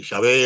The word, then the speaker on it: Yahvé: Eh, el nombre de Jehová surge precisamente por la mala traducción. O sea, hay mucha gente que no aceptaba que este Yahvé era la verdadera pronunciación de esas cuatro consonantes.